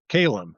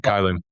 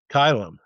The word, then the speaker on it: Caelum: So, let's talk about Kalum, right? Yep. That's that's one way to pronounce it. I pronounce it Kylum. Kylum.